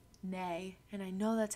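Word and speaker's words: née: Nay, and I know that's how you say it.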